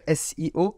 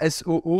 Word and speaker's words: SEO: Faut que j'arrive à le dire SIO parce que ça se dit pas SO apparemment.